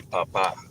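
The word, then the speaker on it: papá: And then if you do papa with an accent on the A at the end, You say papa.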